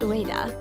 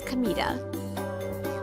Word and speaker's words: Kamita: My name isn't Ua. It's Kamita. Same kanji, but read differently.